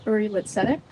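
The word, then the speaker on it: Uri L'Tzedek: It is Hebrew, so we don't hold you accountable for that. It's pronounced Uri Litzedek.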